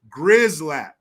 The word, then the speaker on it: Gerzalak: It's pronounced like Grizzlack.